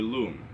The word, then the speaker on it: lung: But how we experience the mind itself is a product of wind, or lung. The U is pronounced like the U in the word look, and it's spelled L-U-N-G, like lung.